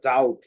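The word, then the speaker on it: doubt: যেমন তাইলে এটা এটা কি দেখো এটা হচ্ছে ডাউট এই যে বিটি আছে এইজন্য বি এর সাউন্ডটা অফ হয়ে গেছে সো বি তারপর এটা হচ্ছে সিন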